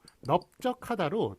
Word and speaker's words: 넓적하다: 들어서 넓적하다 요거는 이제 발음이 어떻게 되나요 넓적하다로 뒤에 걸로 소리가 나죠 넓적하다 이렇게 뒤에